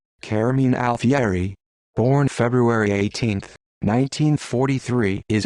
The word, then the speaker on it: Carmine Alfieri: carmine alfieri italian pronunciation caramin alfieri born february 18 1943